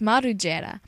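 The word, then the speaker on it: Margela: there are different spellings his last name is pronounced marua he is an asot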